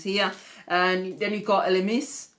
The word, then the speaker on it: Elemis: And then you've got Elemis, or should it, depending on how you want to pronounce it, Elmis, but I think it's Elemis.